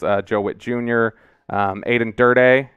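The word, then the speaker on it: Aden Durde: joe whitt jr um aiden durdee is is what we're going with on the pronunciation there until i figure out for sure aiden durde the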